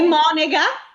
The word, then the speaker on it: monega: E monega, cioè suora? Sulla O, sempre, Mm, aperta, mm, sdrucciola. brava.